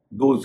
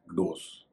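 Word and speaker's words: dose: ओ एस ई खुराक इसे कई लोग रोज को देखते हुए डोज कह देते हैं इसका सही उच्चरण है डोस इसके बाद में मैंने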